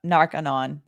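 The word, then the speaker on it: Narconon: okay so what I I probably mispronounced narcanon so like like Narcotics Anonymous okay sorry guys uh I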